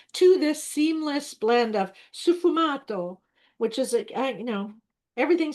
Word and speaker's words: sfumato: I'm afraid Stagmato. Sfumato. Oh, fumato, sfumato. There we go.